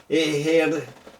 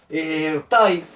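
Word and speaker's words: ἐγήγερται: que está por aquí, la eta, no se pronuncia como I, sino como E. Una E larga, a diferencia de la épsilon, que es una E corta. Así que entonces diría ejertai. Ejertai es un verbo perfecto.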